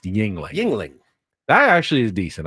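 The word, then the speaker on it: Yuengling: Yungling. Yingling. Yingling. Yingling. Yingling. Never had it before. Yeah. It's spelled with a U, but uh a Y. Well, Yu, but it's pronounced Yingling.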